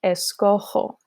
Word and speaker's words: escojo: In the yo form, in order to maintain the correct pronunciation, we change what would be a GO to a JO and get yo escojo.